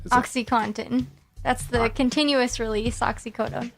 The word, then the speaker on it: OxyContin: drug companies themselves I know how can not pronounce this it's Oh X Y Co and TI n oxycontin that's the continuous release oxycodone and that one's